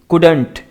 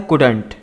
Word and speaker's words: couldn't: यहाँ पर देखिए COULDN अफस्टॉफिक T, couldn't, इसको इस तरह से प्रोनाउंस करते हैं। ये किसका कॉन्ट्रैक्शन है? कुड नॉट का, यानी कि कुड और नॉट को जब आप मिला देते हैं ना तो बन जाता है कुडंट।